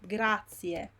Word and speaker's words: grazie: Now I hear a lot grazie, grazie. I don't know, like there is an I and an E and there is a Z here, so it means that the I has to be pronounced. Okay, so it's grazie, grazie. It's not grazie.